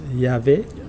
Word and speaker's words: Yahvé: Vous voyez, à travers le nom divin, qui est formé de 4 lettres, Yod, He, Vav, He, que certains prononcent Yahvé.